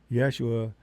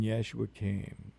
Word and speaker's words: Yeshua: when I say Yeshua, Yeshua is a close phonetic pronunciation of the original name of whom we refer to as Jesus. So I prefer Yeshua.